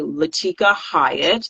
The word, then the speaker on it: Latika Hyatt: appreciate you all um I am AKA latika Hyatt that's how you pronounce my name um I've been Incorporated since 2017.